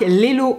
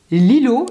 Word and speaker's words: LELO: de me rendre compte moi je dis Lelo et j'ai toujours entendu ça autour de moi dans la bouche de d'autres personnes. Mais si ça se trouve ça se prononce lilo. Et dans ce cas-là, je suis vraiment la reine des imbéciles dans le pays des navés. Bon, ça se dit pas du tout comme ça, mais vous avez compris l'idée.